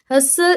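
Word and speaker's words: hustle: यहाँ पे अभी मैंने एक वर्ड पढ़ा, बल्कि एक नहीं दो पढ़े, हसल एंड बसल। अब यहाँ पे देखिए, हसल, मैंने हसल पढ़ा, टी इसमें मैंने साइलेंट कर दिया क्योंकि टी साइलेंट है, टी की आवाज़ नहीं आ रही।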